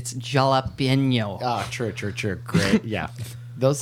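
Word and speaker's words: jalapeño: You got to hit the enye. It's jalapeno.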